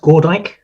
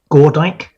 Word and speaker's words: Gordyke: sorry, it's pronounced Gordyke. Can you say that again? Gordyke.